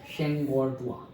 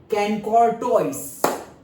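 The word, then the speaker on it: Chancourtois: Okay, ये रहा, हाँ ये जब मैं पढ़ता था तो मैं प्रोनाउंस करता था कैनकॉर्टोइस। क्या? कैनकॉर्टोइस। और मेरे सर भी यही प्रोनाउंस करते थे। लेकिन ये मैंने सर्च करके, ऐसा नहीं कि मैंने अपने हिसाब से बनाया, मैं यही प्रोनाउंस करता था, मेरे सर भी यही प्रोनाउंस करते थे, कैनकॉर्टोइस। बट कैसे प्रोनाउंस होता है? शैंकोर्टुआ।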